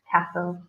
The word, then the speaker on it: castle: pronounce the word castle the T is silent source of tests so castle good point okay last